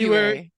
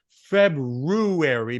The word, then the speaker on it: February: So you and I say it actually incorrectly, but the masses say February. My mother always said February because that's how it's spelled. But I can't even say it like February. I would slow down on that second syllable. So I just say February.